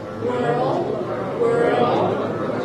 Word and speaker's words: world: World, right? And only after you feel the tension here, world, bring the tongue up to the D.